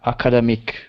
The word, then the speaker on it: academic: usually the using in academic writing academic writing yes say the the stress pattern is on AC the third syllable like academic yeah academic writing so